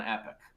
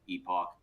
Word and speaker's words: epoch: it has completed one epic. So, uh, epic, epoch, uh, I've heard, uh, different pronunciations of this word over the years.